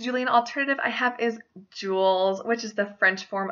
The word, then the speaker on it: Jules: hundreds my next Julian alternative I have is Jules which is the French forum of Julius meaning Downey bearded again oh I love those names so much this can also be pronounced jewels most people are going to associate this with